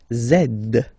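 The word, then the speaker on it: zède: and the last one zed Zed okay so remember to pronounce this D at the end zed zed okay so let's see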